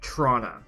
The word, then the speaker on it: Toronto: international airport as well we have locals that pronounce toronto listen to me toronto as toronto and i'm like trying to wrap my head around that i get it now like i get it they simply say trauna i don't ever want